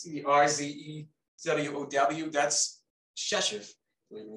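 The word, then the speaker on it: Rzeszów: That's Chechev.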